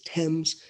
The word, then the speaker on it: Thames: is the river and it's spelled Thames but it's Thames the Thames river is